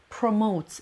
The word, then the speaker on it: promote: Promotes. It's a very practical word. خیلی لغت پرکاربرد و کارآمدی هستش. واسه همین من مثال های زیادی براتون نوشتم. خب promote, the stress is on the second syllable و اینکه one of